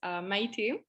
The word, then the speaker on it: Maite: So actually it's pronounced Maite.